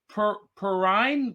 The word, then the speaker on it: Perrine: benefit valerie uh and i've been told i've been mispronouncing her name i'm going to pronounce it right perrine perrine perrine perrine um